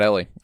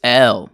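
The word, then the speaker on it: Elle: Uh, it's not Ellie. Um, it's L.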